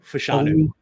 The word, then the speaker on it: Fashanu: Olu Fashanu.